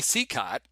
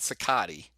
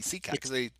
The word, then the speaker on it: Cicotte: They didn't, because I think some people pronounce it Cicotte, but they don't. It's not even that. It's weird, but that really is Eddie Cicotte it's Cicotte, or they call him something like that.